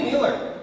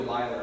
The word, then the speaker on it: Nealer: I think I called you a Myler and said, hey, what a great sport. You know, someone with the last name Myler.